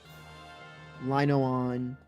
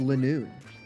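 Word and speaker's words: Linoone: Linoon. Um, no, it's obviously zigzagon. Loon. When I used to think it was lenoon and then I was like, oh, it's a line and a zigzag.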